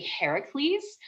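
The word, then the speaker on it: Ἡρακλῆς: it's really funny because his uh greek name the greek pronunciation is actually heracles which uh translates roughly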